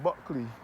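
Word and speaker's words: Bulkeley: Buckley in this parish is spelled B U L K E L E Y. And it is pronounced as Buckley, not Buckley.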